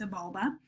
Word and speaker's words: Xibalba: it is pronounced Xibalba it's spelled with an X but it's pronounced Sebulba and then the Egyptian